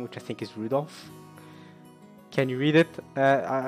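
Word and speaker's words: Rudolf: struggle reading that sure that mess of characters is pronounced rudolph damn okay you must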